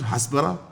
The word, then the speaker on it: hasbara: hasbara and you know how would you pronounce it hasbara hasb that's correct yeah it's I find this to be